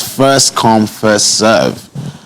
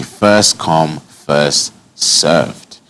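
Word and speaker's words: first come, first served: first come first serve the way this phrase is written implies that the first person who arrives to a certain restaurant or party is also the one who has to serve all of the other guests the correct way to this phrase though the correct way to say this phrase rather is to say so as to avoid unexpectedly unexpectedly becoming a server would be first come first served okay so first come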